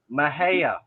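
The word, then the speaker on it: Mejía: Mahia. Mahia. Mahia. Yeah, Mahia. Okay. Well, I would, if you had the A before the I would have said that. Well, it's pronounced Ma, like Ma Pa Kettle.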